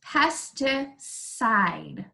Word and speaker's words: pesticide: Sometimes we see a C and an I together, and the C makes the S sound. So in this three-syllable word, it's pesticide, side.